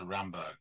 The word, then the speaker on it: Rimbaud: a sucker's prayer, like Rimbaud to Baudelaire before. So yeah, you were right. Oh, really? Yeah. Yeah. It's actually, sorry to be a pedant, but I just can't help myself. It's actually pronounced Rambo, which Rambo?